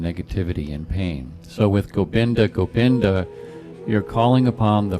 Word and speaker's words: Gobinda: and I think that in India you know India they pronounce V's as B's and B's as B so we're calling it gopinda gopinda Hari Hari that's the